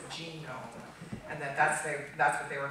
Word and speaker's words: GNOME: So, and their position has always been that the correct pronunciation of their trademark is genome, and that's what they were trying to do with this, you know, this differentiation of the letter G.